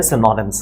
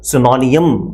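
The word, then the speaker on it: synonyms: सिनोनिम्स इज the correct pronunciation. हमारे यहाँ आमतौर पे इसको सिनोनियम कहा जाता है, जैसे कि आपने सुना भी होगा या शायद बहुत सारे बच्चों ने इसको बोला भी होगा। तो सिनोनियम कोई वर्ड नहीं होता, इनफैक्ट सही प्रोनाउंसिएशन जो है वो सिनोनिम्स है।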